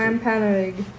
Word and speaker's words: Wampanoag: Wampanoag.